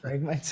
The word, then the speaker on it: Phragmites: How do you pronounce that, Madam? Phragmites? Phragmites.